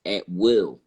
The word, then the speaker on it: Atwell: my last name is Atwell so when I looked up you know at well you know it you know I came to the uh a saying that saying is actually pronounced at will and it's a British